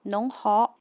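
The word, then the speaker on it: 侬好: is a mandarin but in Wu Chinese, or Shanghainese it pronounced as nong hao and in Yue Chinese or Cantonese it's pronounced as nei hou.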